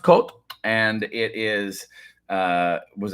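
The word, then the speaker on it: Côt: put it that way it's pronounced cult and it is uh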